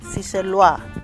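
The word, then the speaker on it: Seychellois: or sea shells si that's very good and it's spelt s-e-y-c-h-e-double-l o-i-s si lua okay now we're going to aisha what is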